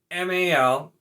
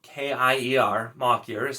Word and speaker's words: Malkier: one too it's like so makier is m-a-l-k-i-e-r mock yours how i've always said that apparently it's malkier which i just once again